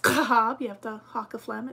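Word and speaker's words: Schab: h a b um fortunately sounds very similar to CLA Schwab um it's actually pronounced kab you have the Haw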